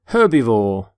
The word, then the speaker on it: herbivore: herb herb not herb by the way you pronounce the H in the word herbivore for example this stomach